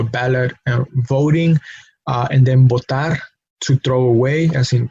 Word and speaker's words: botar: Now, those are two different verbs that are pronounced exactly the same, and the only difference is their spelling. The initial letter for one is V, the initial letter for the other one is B, but we pronounce it the same.